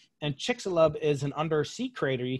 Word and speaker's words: Chicxulub: better than I can, but I think it's pronounced Chicxulub. And Chicxulub is an undersea crater.